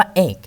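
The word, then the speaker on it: ache: ครับ ว่า คำ ว่า เอก นะ ครับ เอง CX อีก นะ ครับ คำ นี้ อ่าน ว่า เอก นะ ไม่ ใช่ H นะ เรา สะกด ด้วย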